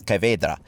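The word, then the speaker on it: Caveira: and her name is cedra uh now this is a little bit of a pronunciation issue I'm sure I'll get some corrections on that but that's how you say it in the Brazilian Portuguese and that essentially translates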